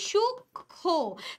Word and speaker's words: সূক্ষ্ম: সূক্ষ্ম, তার মানে এখানে ম ফলার উচ্চারণ হচ্ছে না।